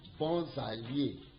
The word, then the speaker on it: bons alliés: This bon, that S you just join it as you call it Z, and you join it to that A of allié. So you read it bons alliés, bons alliés.